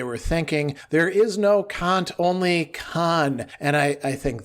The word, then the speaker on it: Kant: And I said, yes, but I don't pronounce it like the C word.